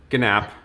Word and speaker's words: GNAP: pronouncing it right gnap is it nap or gnap yeah it's gnapp this was a very